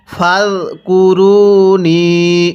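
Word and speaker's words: فَاذْكُرُونِي: ফাযকুরুনি, এই জালটা আমাদের নরম করে উচ্চারণ করতে হবে। যদি জালটা আমরা জিম উচ্চারণ করি তাহলে পড়াটা সহি শুদ্ধ হবে না।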